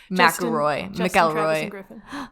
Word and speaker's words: McElroy: McElroy.